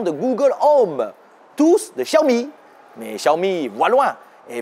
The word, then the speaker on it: Xiaomi: Technologie à présent, Xiaomi et non pas Xiaomi.